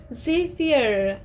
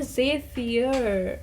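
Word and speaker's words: zephyr: आगे से जब भी शीतल हवा चले आपने क्या बोलना है, ज़ेफियर, ज़ेफियर। जो ऐसी हवा जो सारे फियर आपके ले जाती है, तो इसे प्रोनाउंसिएशन में वैसे कहना है ज़ेफायर, ज़ेफायर।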